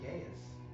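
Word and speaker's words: geas: Oh, I thought that was pronounced gaius. Oh, it might be. I've never heard it pronounced, but I pronounce it geese.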